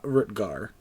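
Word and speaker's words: Rutgar: you offer yours uh rutger kind of like how it's spelled there except it disappeared are you two g-a-r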